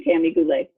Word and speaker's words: Tami Goulet: y'all gonna say your surname hi everybody I'm Tammy Boulet thank you cuz I always I you know